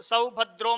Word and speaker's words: सौभद्र: उच्चारण करना है सऊ जहां पर औ की मात्रा है वहां पर औ का उच्चारण करेंगे जहां पर ओ की